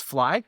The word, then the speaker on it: Phi: I actually forgot the the whole algorithm but phi pronounces as fly because you know because we make scars fly right.